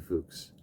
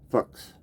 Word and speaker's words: Fuchs: So in German, it's pronounced, well, it depends who you talk to and what, if it's high German or low German, but it's called Fuchs, which we all know what that sounds like. But the English pronunciation typically is Fuchs or Fuchs.